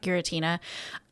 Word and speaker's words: Giratina: I genuinely just the distortion world, Giratina. Is that how you say it? Yeah. Giratina.